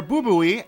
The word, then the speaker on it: Bubui: Furthermore, Bubui, MMO Champion's owner, who, side note, I am going to be pronouncing his name that way because I believe it is the correct pronunciation, has personally come out